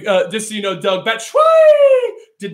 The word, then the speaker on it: Batshuayi: You pronounced Batshuayi wrong. Oh, I'm sorry, Batshuayi.